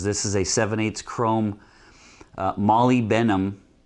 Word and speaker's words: molybdenum: This is a 7/8 chrome molybdenum. How do you pronounce that?